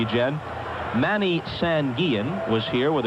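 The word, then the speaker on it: Guillén: Gan and that is the proper way to pronounce his name although he doesn't mind as most people say Gan but you have brought me around and now we're both saying Yen Manny sanan was here with a group of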